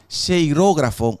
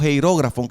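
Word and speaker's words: χειρόγραφον: eh griego se utiliza la palabra sheirógrafo o heirógrafo, que es la la pronunciación.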